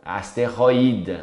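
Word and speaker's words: astéroïde: Nesse caso tem a trema, então asteroida.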